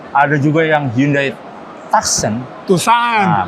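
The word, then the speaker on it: Tucson: Tusan. Nah, bacanya gimana? Iya. Tusan. Bacanya Tusan. Dari berapa tadi?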